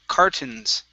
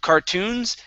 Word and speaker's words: cartons: here is the word cartons instead of cartoons cartoons looks very similar we're missing an o there if we had one more o that would be cartoons this on the other hand only has one o so it's cartons cartons all right cartoons good